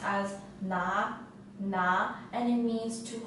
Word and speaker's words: 拿: this character is pronounced as na na and it means to hold or to